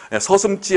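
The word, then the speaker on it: 서슴지: 서슴찌 할 적에는 발음은 서슴찌라고 된소리 발음이 나오지만 쓸 적에는 그냥 지로 씁니다, 지.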